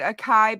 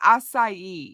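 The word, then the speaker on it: açaí: Ikea and it was some people call it aai but it's assai is how it's um supposed to be pronounced well I'll try it I'm sure I've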